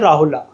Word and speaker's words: राहुल: तो राहुल को भी ऐसे ही लिखा जाता है राहुला। ठीक है? बोलते हैं लेकिन राहुल है ए साइलेंट होता है।